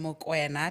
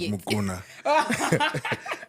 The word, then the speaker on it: Mokoena: And today I'm seated with a guest, and I'm seated with Mokoena. Did I say it right? Yes, not Mukuna. Everyone says Mukuna.